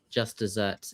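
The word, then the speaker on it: just deserts: And and by the way, uh just desserts, it's sounds like it says like it's it's pronounced the same as dessert as in like what you eat, but it's spelled like a desert and it means what you deserve.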